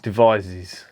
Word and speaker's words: Devizes: They're from a place called Devizes. Now, I hope I've pronounced that right, but I'm pretty sure that's how it's pronounced.